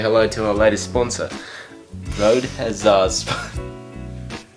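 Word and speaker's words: Rode: uh how you pronounce Road Road has sponsored us no Road Wireless goo Road Road like a road where you drive and where you Road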